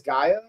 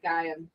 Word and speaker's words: Gaiam: So this is a, how do you say this, Gaia? Yeah, Gaiam.